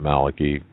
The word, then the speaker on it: Malachi: Malachi presented this, and some people pronounce it Malachi, St.